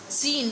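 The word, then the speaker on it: س: Next word scene, scene, scene, scene pronunciation like a whistle sound. Seen pronounced from the tip of the tongue touching the inner edge of the top two and bottom two front teeth.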